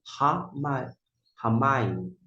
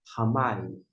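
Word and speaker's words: הַמַּיִם: Primeiro informo, não vai afetar a pronúncia.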